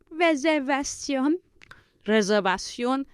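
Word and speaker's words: reservación: and reservation would be reserv reserv the V is pronounced with your lips Li with like a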